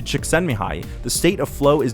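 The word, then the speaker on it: Csikszentmihalyi: psychologist extend behind okay i had a professor point out how to say it to me when i was in my masters according to chiksanmihai the state of flow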